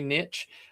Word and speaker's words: niche: I know if you guys might not love that because it's it's very niche um or niche depending on how you say it.